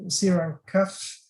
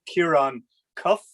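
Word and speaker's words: Ciarán Cuffe: uh providing the last presentations here so it's sierra cuff uh sorry for an awful pronunciation maybe a member of the european parliament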